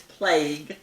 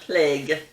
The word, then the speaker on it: plague: mean is the plague the correct way to pronounce it is plague which rhymes with vague not plague which rhymes with leg